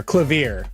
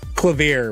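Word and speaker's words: Klavier: and roll God incarnate or clavier actually sorry clav would be the correct way to pronounce that clav what a lovely name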